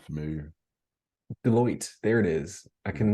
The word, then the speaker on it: Deloitte: Like, How do you pronounce the one? It's not Do Light. It's I always say their name wrong. Starts with a D. I'm not familiar. Deloitte.